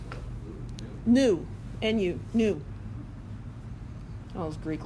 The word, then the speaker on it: nu: It's 'cause there's This is nu. It's a Greek letter. And this is V. This is frequency, that's velocity. Yeah, that's smart, right? It's pronounced what? Nu.